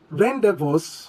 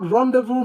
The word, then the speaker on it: rendezvous: Now, last but not the least, we have another French word which is correctly pronounced not as rendezvous, rendezvous, but rendezvous, rendezvous. The word rendezvous means a meeting or gathering, and the Z and S are silent. So we pronounce this simply as rendezvous.